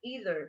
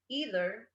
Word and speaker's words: either: these two neither or either so you can also say neither or either they work these two words have two different pronunciations neither neither either either just in case